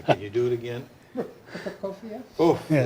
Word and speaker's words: Prokofiev: We have Mozart's ballet music from Idomeneo, Prokofiev Second Violin Concerto, Beethoven's Seventh. Ends the evening. You pronounced that second one so beautifully. Can you do it again? Prokofiev?